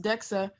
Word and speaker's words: DXA: DXA, pronounced DEXA, uses X-rays to determine the amount of bone in the human skeleton.